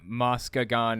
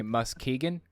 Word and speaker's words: Muskegon: both of those okay now i know that moscagon is wrong so i'm going to say muskegon and yes colin very